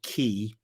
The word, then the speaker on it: quay: was a breakwater or a key, spelled Quay. The Brits, they spell quay, they pronounce it key, but we believe it was a breakwater.